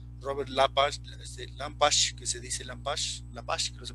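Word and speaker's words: Lepage: Por ejemplo, en el postdramático, Romeo Castellucci, John Jesurum, el famoso, que es muy famoso, Robert Lampash, que se dice Lampash, que no se pronuncia, que es canadiense, y su grupo Ex Machina.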